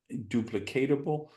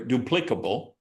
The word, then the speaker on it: duplicable: itself and creating these duplicatable uh uh duplicable I'm sorry duplicable that's how to pronounce it duplicable these duplicable tools